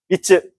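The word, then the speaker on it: 三つ: 자 미끄로 하면 세봉지 이런 식으로 쓸 때 쓰는 소리라고 생각하시면 될 거 같고 아니 소리야 뜻이라고 생각하면 될 거 같고 그다음에 미츠 미츠 그걸 읽는 경우도 있습니다.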